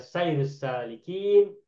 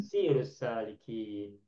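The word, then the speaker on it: سَيْرُ السَّالِكِين: yang Ibu Halimah tanyakan tadi, bacanya adalah sayrus salikin, bukan sirus salikin.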